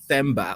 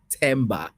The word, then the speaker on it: Themba: the the th H thba or tber and what does it mean it's the latter so tber with like a silent h so we don't pronounce